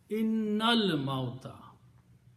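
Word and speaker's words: إن الموت: You combine noon with lam. Innal mauta.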